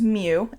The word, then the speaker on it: mu: hope not for the population mean this is mu mu is how it's spelt and for the standard deviation this is